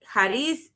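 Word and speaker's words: χάρις: Entonces, Entonces, perdón, pastor, Haris es, así deberíamos de pronunciarlo, por eso es que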